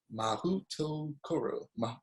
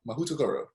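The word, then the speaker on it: Mahoutokoro: It is pronounced Mahutokoro. Mahutokoro.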